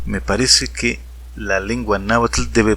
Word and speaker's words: náhuatl: que van a hacerlo deberán pronunciarlo así náhuatl el náhuatl como lo estoy haciendo yo y no como lo están haciendo los miles de nagua tractos naturales que dicen náhuatl es una opinión muy